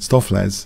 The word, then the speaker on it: Stoofvlees: highly important game for stew Flay's stuff let's palmate stuff layers is my preferred pronunciation right now so beefs jus kind